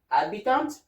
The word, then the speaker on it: habitant: The H here is silent, okay? And these are the words that goes with, like habitant, habiter, herbe, herbivore, histoire, hiver, honorable, honoré, humain, huard, and hybrid.